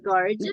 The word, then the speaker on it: gorgeous: It's a combination of gorgojo y jugo.